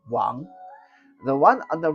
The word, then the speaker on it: Wang: n g and a lot of people say Wang uh but it's actually pronounced Wong the one on the right the one with